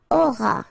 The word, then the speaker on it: auras: Alright, then tu auras, final S not pronounced, aura.